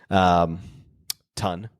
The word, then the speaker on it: Ton: my teammate, Miss Erin Ton. Ton. I always pronounce her last name. I want to say ton, but like it's ton, like a 1,000 tons.